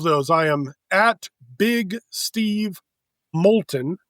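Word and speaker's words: Moulton: Uh but all of those I am big Steve Molton. M O U L T O N. Rhymes with the molten lava.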